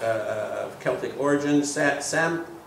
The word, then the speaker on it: Samhain: the pagan feast of, forgive me if I mispronounce this, since I'm not of Celtic origin, Samhain, how do you say it? Samhain.